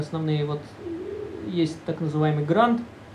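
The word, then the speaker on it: Grunt: Вот есть так называемый грант. Как он вообще правильно произносится? Грант? Грюнт? Ну вот это местный там у них сборщик, я не знаю. Грунт. Грунт, да.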